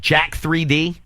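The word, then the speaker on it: Jack3d: really stupid is it Jack 3D oh yeah that's how that's how people at the gym pronounce it well that's what I'm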